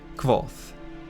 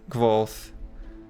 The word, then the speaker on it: Kvothe: chapters, the main character, Kvolth, explains how to pronounce his name, that it's like a real soft V sound.